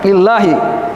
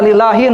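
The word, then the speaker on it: لله: Allah Subhanahu wa taala lillahi majrur berarti majrur. Enggak dibaca lillahin. Enggak gitu kan. Enggak nakirah. Kalau nakirah dibaca tan tanwin. Makanya dibaca makrifah lillahi enggak tanwin.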